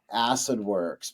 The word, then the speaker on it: Acidwrx: And then at one point I said, Acidwrx, but we spell it WRX.